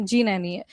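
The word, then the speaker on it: Gnani: जी नैनी जी नैनी नहीं गनानी नहीं है। जी नैनी है।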